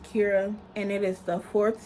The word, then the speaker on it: Chara: is greek for joy it's spelled like chara but it's pronounced kira and it is the